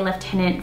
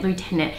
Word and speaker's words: lieutenant: that there, I will say lieutenant for the rest of this video. So kudos to myself for writing that down as a reminder, because in one of my previous videos, I think I was pronouncing it lieutenant, and there was only as I was editing it and I was like, oops.